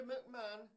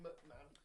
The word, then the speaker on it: McMahon: important, was that moment where the catatonic Linda McMahon stood up out of her wheelchair and showed that she was the main McMahon.